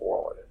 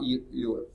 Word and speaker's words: Euler: Yeah, it's actually pronounced Euler. Yeah, I did too first, and then finally I saw a phonetic thing of it. It's like, oh, it's Euler. It's not Euler.